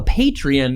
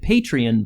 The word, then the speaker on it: Patreon: that we have a Patreon now, and it's very exciting. I just pronounced it Patreon, but it's actually Patreon.